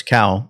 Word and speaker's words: Cao: I just realized I said his name wrong. I said How, it's Cao.